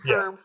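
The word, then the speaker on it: Hryb: Larry Erb, I believe, has already posted that they're taking all of the feedback they're getting and having Did I say his name right? Larry Herb? Herb.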